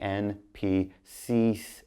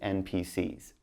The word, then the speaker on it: NPCs: You say NPCs, but then like plural. So just NPCs. Don't say S.